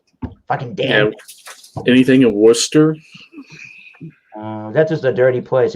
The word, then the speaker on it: Worcester: Actually, it's Wus, like WUSSTUR is how you say it, Worcester.